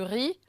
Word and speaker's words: riz: la maison en français on ne lit pas vraiment les consonne finale donc c'est du riz le Z n'est pas prononcé jamais en ensite de